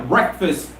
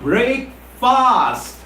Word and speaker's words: breakfast: well for your confirmation it's not break fast it's breakfast breakfast breakfast breakfast have